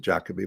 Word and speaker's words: Jacoby: Here in Britain, they pronounce it Jacoby, but it's the same word.